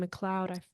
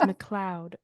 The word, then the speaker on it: McLeod: pronouncing your last name McLoud forgive me I messed it up at the it's not M it's McLoud okay yeah McLoud yeah